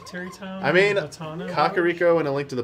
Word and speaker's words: Kakariko: that pronunciation like it took a longest time to say Kakariko instead of kakarrot go I used to take